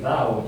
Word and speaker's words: Tao: Y me he acordado del Tao Te Ching. No sé si ahora en vez de Tao diréis Dao, yo, porque ya sé que se pronuncia distinto, ¿no?